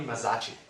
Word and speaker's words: Mazzaschi: We're very lucky today to have so Tony, correct me if I mispronounced that. I was practicing earlier. Tony Mazzaschi.